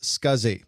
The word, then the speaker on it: SCSI: the drive was operational the abbreviation SCSI is pronounced scuzzy and this stands for